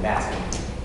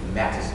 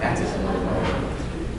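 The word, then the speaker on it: Matteson: mag p 19th District in maton or excuse me Mattis you got to say it right Mattis um I also circulated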